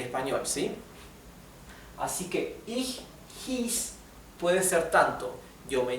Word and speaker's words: hieß: En alemán la I con la E, que siempre no me canso de repetir lo mismo, la I con la E se pronuncia como una I larga. I. Hieß.